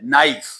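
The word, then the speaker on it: knife: यहां पे के जो है वो साइलेंट है। नाइफ के साइलेंट है।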